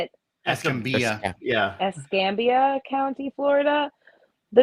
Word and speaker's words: Escambia: Escambia.